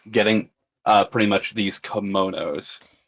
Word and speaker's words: kimono: To be fair, this kind of was Char's call on getting uh pretty much these kimonos. It's how awkwardly you pronounce that word.